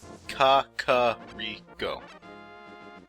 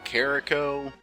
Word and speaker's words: Kakariko: debated on pronunciation village I will steadfastly stick to kaka three go not Kakariko I used to say carrico which is kind of a faster and still wrong way of saying caca Rico but because it's